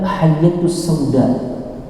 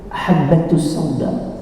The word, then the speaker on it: habbatus sauda: dari yang dia pelajari, dia membacanya hayyatus sauda. Padahal titiknya satu, habbatus sauda.